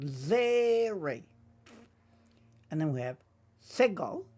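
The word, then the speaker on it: צֵירֵי: Zeri, often represented with like an EY sound. Zeri.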